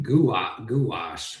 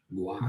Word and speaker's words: gouache: Gouache. Yeah. Gouache. You got it. Gouache. Gouache. Yeah. Good term. I still don't know the answer. Gouache.